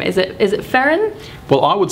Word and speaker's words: Ferin: Is it Ferren? Well, I would say Ferren, but I would also say you can pronounce the names however you like.